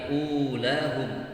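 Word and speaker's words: أولاهم: Tidak dibaca ulahum tapi ulahum. U-nya tetap dibaca panjang.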